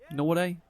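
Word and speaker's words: Nortje: As Norte, I think it's pronounced Norte.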